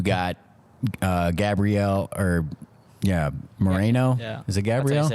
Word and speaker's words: Gabriel: Is it Gabriel?